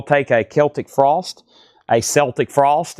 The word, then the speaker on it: Celtic Frost: Danny said he will take a Celtic frost, a Celtic Frost. It's actually Celtic Frost. Everything else is Celtics and then Celtic frost is pronounced this way.